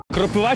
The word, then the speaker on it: кропива: кропивою відшмагати чи кропивою кропива чи кропива кропива кропива кропива кропива думаю що кропива а правильно кропи ва І тільки так кропива